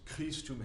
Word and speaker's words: Christum: The very last line, the only deal is Christum has a really hard K on it. It's an aspirated K, which means a lot of air comes out with it.